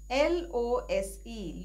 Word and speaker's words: lose: L-O-S-E, lose, is a verb which has a Z or a Z sound at the end.